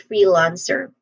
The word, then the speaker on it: freelance: Pronunciation wise, starting with free, the first syllable, this has a short e vowel sound. And then lance, it starts with an L sound, consonant sound. And then ants, a short vowel sound, ending with a hissing sound. So freelance, again, freelance.